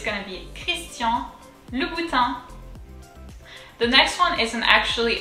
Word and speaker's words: Christian Louboutin: louis and so again let's break it down this time three syllables so lu l-o-u lu um it's actually a first name in french so it's going to be all together christian louboutin let's try chris christian